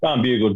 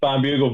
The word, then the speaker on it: Barnbougle: It's Barnbougle Dunes, or that's how I pronounce it. Apparently, it's Barnbougle Dunes, which I find a little bit difficult to say. So I'm going to stick with Barnbougle.